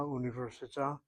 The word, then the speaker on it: università: the word university above, she puts the accent over the third of the 5 syllables. Università. 5 syllables make up that word university. And so the middle one gets the accent.